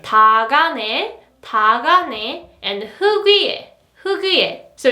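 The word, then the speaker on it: 닭 안에: And its pronunciation is 다가네, 다가네, 다가네. This is not 달가네, 달가네, but you have to pronounce it like 다가네, 다가네.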